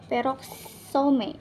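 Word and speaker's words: peroxisome: Selanjutnya itu kita akan membahas tentang peroksim atau di sini bacanya peroksome ya, peroksome, atau dia itu bentuknya bulat agak kebiru-biruan gitu.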